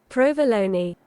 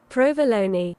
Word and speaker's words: provolone: We are looking at how to pronounce with the typical Italian pronunciation the name of this delicious Italian cheese.